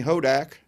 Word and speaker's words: Hodak: creating super fans by Brittany hodak rhymes with Kodak and it is autographed